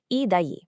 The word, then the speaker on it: e daí: Okay, rounding out Act 1, we have e daí, pronounced e daí.